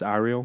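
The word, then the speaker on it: Arielle: It's not Ariel, it's Ariel. Yeah, it's Ariel Ashe.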